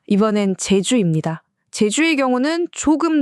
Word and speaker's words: 제주: 제주의 경우도 마찬가지였어요. 어떤 중심을 딱 잡아주는 존엄한 느낌의 제 발음이 일본어에서는 표현하기가 어려우니까 스치듯 지나가는 치읓이나 시옷 같은 발음, 그래서 체주가 된 거죠.